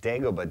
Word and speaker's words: Dagoba: have today is a dagobah chocolate and i think that's how you pronounce it not dagobah dagobah dagobah like from star wars and i was on